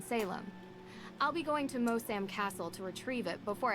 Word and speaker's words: Moosham: I'll be going to Mosam Castle to retrieve it before I head back to the That's States. cool. I pronounced Moosham.